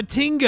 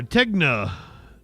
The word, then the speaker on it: Tegna: owned by Tinga actually or Tegna Tegna Inc.